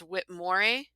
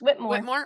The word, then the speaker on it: Whitmore: of people do um it's whitmore nope just what more oh okay okay what